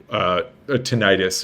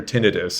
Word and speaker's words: tinnitus: Oh, maybe we can have another just session where we talk about tinnitus or tinnitus, as some people pronounce it.